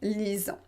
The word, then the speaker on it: lisant: résultat c'est en lisant vous ne prononcez pas le thé finale en lisent donc voilà pourquoi on